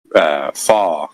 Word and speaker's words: fort: The word fortunate, the prefix fort, right, in French is fort, or it's pronounced fort, which means strong.